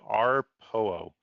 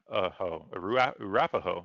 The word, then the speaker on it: Arapaho: Arpoho, Arapaho.